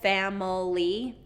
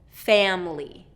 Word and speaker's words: family: Again, a lot of our students will create or make it 3 syllables, family, and native speakers reduce this to 2 syllables, family. And this is just a common reduction, okay? Family. So first syllable stress, family.